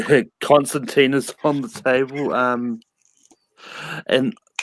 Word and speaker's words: Constantine: his books and that's John Constantine or Constantine if people want it pronounced that way it's actually Constantine sorry guys um but ya know